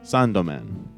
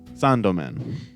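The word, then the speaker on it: サンドマン: uh Sandman is pronounced sandomen sound man is pronounced sandomen it's like literally the exact same pronunciation but like it is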